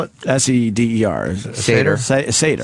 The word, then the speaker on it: Seder: If you attend a ceder, a ceder, How do you spell it? S-E-D-E-R. Seder?